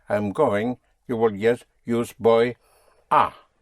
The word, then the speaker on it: voy a: Though it is spelled in two words, but in the spoken language, you contract the boy, a to boya, boya.